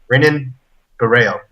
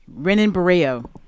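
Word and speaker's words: Renan Barão: go to the on demand the name is pronounced renan buo renan buo he's from Chicago exactly it's spelled Ren buo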